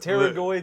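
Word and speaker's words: pterygoid: was still he's still baffled that teroid a muscle in the jaw start with a silent P that is ridiculous you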